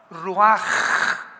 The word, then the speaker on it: ruach: la palabra como suena r u a c h ruach que es la palabra hebrea que significa espíritu y se pronuncia la ch en el hebreo como j ruaj raj como J raj